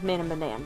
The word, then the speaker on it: Man of Medan: It's called Man of Medan. Or, yeah, Man of Medan.